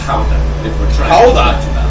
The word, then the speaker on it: Gouda: of the famous Gouda showed up, or pronounced Gouda, if we're trying to Gouda.